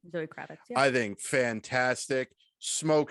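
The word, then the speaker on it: Zoë Kravitz: Zoe Kravitz.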